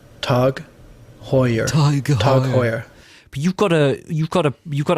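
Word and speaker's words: TAG Heuer: what about you i i used to pronounce it like the taj mahal taj wrong with that that's what i'd go for let's uh let's see what the real one is tug hoyer tug hoyer but you've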